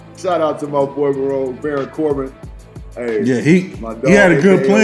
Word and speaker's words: Baron Corbin: Baron Corbin? Baron Corbin.